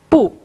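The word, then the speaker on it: 不: Когда это слово используется отдельно, оно произносится четвертым тоном «пу». Когда «пу» употребляется перед четвертым тоном, произношение меняется на второй тон «пусе» или «пуюнсе».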